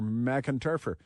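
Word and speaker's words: McEntarfer: Um, that is uh McInturer. Macintofer. That's what it is.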